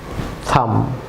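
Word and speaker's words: thumb: Viewers যেমন be silent থাকবে, এটি বি, থাম। অবশ্য বলুন থাম।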